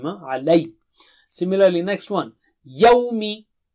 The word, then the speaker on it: يَوْمِ: Yawmi, yawmi, yawmi, yawmi.